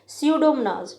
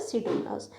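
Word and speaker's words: Pseudomonas: मस कौन से बैक्टीरिया सीडो मनाज यहां पे पी साइलेंट है एंड थायो बेसिलस थायो bacillus and द सीडो मनास so nitrogen fixing bacteria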